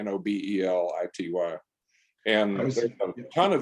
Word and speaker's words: Nobelity: It's spelled like Nobel laureate, Nobelity.